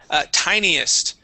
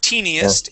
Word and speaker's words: tiniest: Let's go to tiniest. So instead of teeniest, it is tiniest. Tiniest. Yeah. Okay. Remember, teeny is spelled with 2 e's.